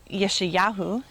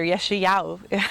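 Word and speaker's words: Yeshayahu: syllable i say yeah but in hebrew that would be yeshiyahu or if you if we say it like my instructor yeshiyaou i'm not even very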